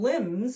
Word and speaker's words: limbs: And limbs. When we're talking about arms or branches or something, it's spelled L I M BS. It's another one of those funny English words with a silent letter.